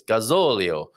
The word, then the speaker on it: gazillion: um it's so yeah it's like me old um gazillion isn't it it's gazolio get the emphasis on the right syllable folks great lisa i'm